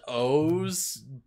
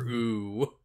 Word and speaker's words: OOO: Rider like triple o which is apparently pronounced O's but like in my brain I cannot unsee it as Kamen Rider ooh because of course and